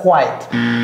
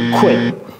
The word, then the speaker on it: quit: To quit, c'est pas quiet, to quit.